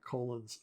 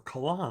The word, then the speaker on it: Colan: I just really like Colon's um um or colan I guess is how you actually say his name uh I really like